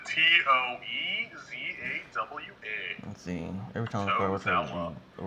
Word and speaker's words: Tozawa: Tozawa. Did you put an E in that? Dude, I put every vowel in there, just hoping I'd hit one. @ sign. Yeah. The way you pronounce it, Toezawa.